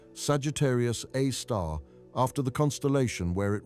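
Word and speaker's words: Sagittarius A*: They named it Sagittarius A star pronounced Sagittarius A star after the constellation where it resides.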